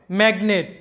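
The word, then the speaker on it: magnet: তো এখানে কিন্তু আমাদের এনের উচ্চারণ হবে, জির উচ্চারণ হবে, সবগুলোর উচ্চারণই হবে।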